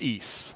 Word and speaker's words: Ys: for the uh for the ps4 and oh ease like the y yeah yes oh yes pronounced ease yeah that's right okay wow wow yeah i